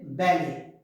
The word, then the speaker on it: ballet: start with letter b it's not ballet we should say ballet bear not beer we